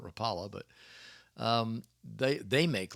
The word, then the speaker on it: Rapala: them in yui uh Rapa Rapa Rapala depends on where you're from is how do you pronounce that uh I tend to call it Rapala but um they they